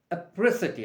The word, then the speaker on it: apricity: okay then we have another word oprisity not electricity apricity i spell it for you a p r i a pre city city of kolkata apri apri city etricity